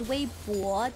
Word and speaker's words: Weibo: Yeah, I think BO is just a pretty different pronunciation when it comes to English and Chinese, because I know a lot of people say Weibo, but in Chinese, Weibo, there's like a W, it's like B-W-O, Weibo, there's like a